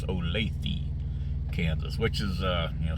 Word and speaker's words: Olathe: and somebody uh uh corrected me about the pronunciation I think I was calling it alathy or something like that but it's Olathe which is uh you know it's like southwest